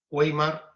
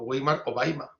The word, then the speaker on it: Weimar: Pregunta Weimar o Weimar, depende de cómo lo pronunciemos, si en español o en alemán.